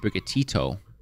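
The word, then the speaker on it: Sprigatito: falling in love with sprigga tito it's brigatito oh i also like that's also like so different than what i thought the pronunciation was what did you think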